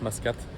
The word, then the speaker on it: Mascate: Donc, en gros, ça se dit plus Mascate. En arabe, bon, je sais pas comment ça s'écrit, mais en anglais, c'est avec un U. Mais vu que le U, c'est E, en anglais, bah, ça fait Mascate.